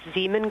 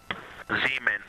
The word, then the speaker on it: Zeeman: Integrity Science, we believe that's Zeeman Crater. We believe that that is Zeeman crater. Zeeman.